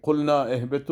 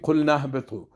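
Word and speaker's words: قلنا اهبطوا: مثلا ما نمیگیم که قلنا اهبطو، این غلط است، میگیم قل نهبطو. میبینین که نون همراه هی مستقیما در تماس میشه و 2 الف تلفظش از بین میره، اما در نوشته باقی میباشن.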